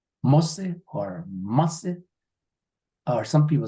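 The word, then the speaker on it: mósí: And you're going to say a, and we've been saying mosse here. A mosse at I've been mispronouncing it. I thought it was Mosi. It's yeah. say it again. Mosse. Some people say ma like mother.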